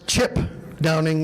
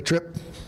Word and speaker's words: Trip Downing: Or in other words, Chip Downing if you're Greg Elsing. We got him to finally say it correctly, Trip.